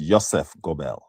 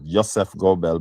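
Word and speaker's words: Joseph Goebbels: G O E B L E I think it is the spelling Joseph Gobel pronounced Ysef Gobel, right?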